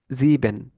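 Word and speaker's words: sieben: আর হচ্ছে আই আর ই এটা যখন থাকবে, তখন হচ্ছে সর্বশেষ যেটা আছে ই, ই এর মতো উচ্চারণ হবে।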